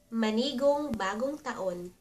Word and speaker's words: Manigong Bagong Taon: And to greet a Happy New Year in Tagalog, the traditional greeting is Manigong Bagong Taon. Ma-ni-gong Bagong Taon.